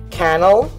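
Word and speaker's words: Cannell: thanks to sean uh kennel rhymes with channel uh he runs like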